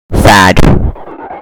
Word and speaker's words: Thad: I mean, really, his name sounds like the word sad, which is exactly how I feel anytime he's on screen.